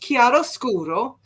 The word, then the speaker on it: chiaroscuro: okay here you are again Encore performance it's pronounced chiaroscuro and it's a term used to describe the